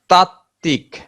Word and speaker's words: তাত্ত্বিক: যুক্ত ব্যঞ্জন মানে কি, একাধিক ব্যঞ্জনের সাথে যদি ব ফলা যুক্ত হয় সেক্ষেত্রে ব এর উচ্চারণ থাকে না। যেমন উচ্ছ্বাস, উচ্ছ্বাস, উজ্জ্বল, উজ্জ্বল, তাত্ত্বিক।